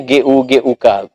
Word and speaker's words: guguk: Tulisannya GUGUK. Agak dalam mak memang bacanya guguk. Tapi kalau iya, karena sebenarnya itu adalah lidah Melayu ya. Sama becak kita menyebut atu, dibaca atu.